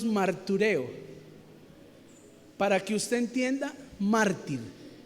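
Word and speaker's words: μαρτυρέω: testificar en el original cuando se escribió la palabra, en el griego se pronuncia más o menos martureo, para que usted entienda, mártir.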